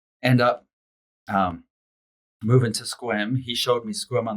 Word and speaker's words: Sequim: go to America end up um moving to squim he showed me squim on the map I'm like Sequim is that how you how how you that's